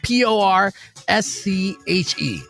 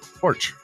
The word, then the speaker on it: Porsche: Uh P O R S C H E. Porch. No. Porsche. Ah. Yeah. It's Porsche. Yes.